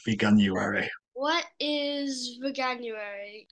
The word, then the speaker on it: Veganuary: pronouncing the word banuary so it's vegan plus January veganuary what is veganuary it's